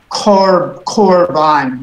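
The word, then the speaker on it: קָרְבָּן: This instance of the Shoresh Karev is korban with the O sound.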